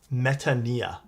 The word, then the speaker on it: Metanoia: Uh in Greek it would be pronounced metania like that.